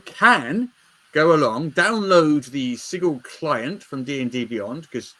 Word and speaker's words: Sigil: Should we start with Project Sigil, Sigili, depending how you wish to pronounce it. So, Project Sigil, I'm going to put it Sigil. I'm going with Sigil.